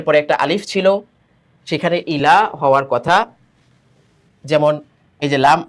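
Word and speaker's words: إِلَى: যেমন হামজা ই লাম ইয়া খারা জবর লা। এখানে কিন্তু ইয়ার উচ্চারণ হবে না।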